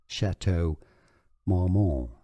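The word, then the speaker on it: Château Marmont: tricky Hotel name yes the tea is silent in because it's French indeed and in English it's rather said similarly as shatow mmon shatow malmon Faulty Towers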